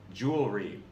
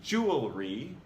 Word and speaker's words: jewelry: 11, jewelry. This time we tend to cut out a syllable that's actually there. It should be jewelry, not jewelry.